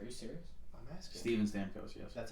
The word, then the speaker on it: Stamkos: ] menace on the ice you think that's pronounced stamkos are you serious i'm asking steven stamkos yes that's how that's who's been on that